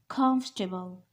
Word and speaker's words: comfortable: right this is comfortable comfortable the stress is on first syllable this is comfortable this